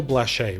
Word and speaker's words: Blache: I've got Blache, right?